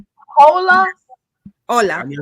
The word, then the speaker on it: hola: Oh, so the H is silent. Yes, it's silent.